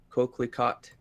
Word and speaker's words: coquelicot: Brown chartreuse orange magenta cyan wenge Xanadu pink coquelicot that's how you pronounce it valeu and silver as a bonus